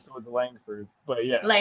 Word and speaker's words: Langford: You got Langford with Yeah, you were close. There's a G in there after the end. So, it was Langford.